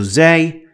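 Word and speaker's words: زاي: and that is zay and zay is an easy one because it has an equivalent for it in english and that is like in the word zero so zay is z sound exactly like zero in english and these are the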